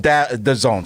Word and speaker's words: DAZN: Dazin or DAZN? DAZN, sorry. I've never known. It is DAZN.